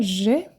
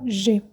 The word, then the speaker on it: je: O primeiro é o je. Je é eu. E o que acontece com o je? Se escreve J-E e é o sujeito, significa eu em francês.